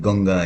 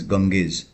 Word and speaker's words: Ganges: The Ganges, we call it Ganga here in Nepal and in India, but it is pronounced as Ganges.